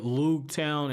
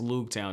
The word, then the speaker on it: Loguetown: Like, he was like, yeah, I was there at Loguetown, and the way Viz Media has it, it's Roogtown.